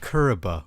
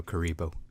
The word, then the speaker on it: Kuriboh: kind of cute yeah it was like Kariba I like know kuriboh they're fun fact there